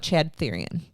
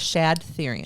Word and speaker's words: Shad Thyrion: I want to talk to you about Chad Thyrion. Chad Thyrion. Shad. Oh, Shad. I pronounced it wrong. It was Shad Thyrion.